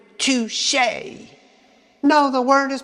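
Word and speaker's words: touché: The word has an accent aigu and is pronounced touche.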